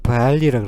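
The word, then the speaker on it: barley: 보리를 영어로는 발리라고 그러죠. 발리.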